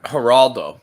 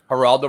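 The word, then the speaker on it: Geraldo: you remember all right haraldo but it was it was a g it's spelled with a G but it's pronounced like an H because it's Spanish haral okay it's not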